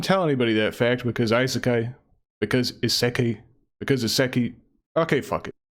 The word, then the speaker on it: isekai: Isekai.